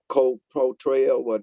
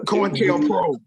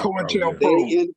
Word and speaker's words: COINTELPRO: Marvin said that co-pro-trail, how you say it, Marv? Contrail or whatever. COINTELPRO. Right. COINTELPRO.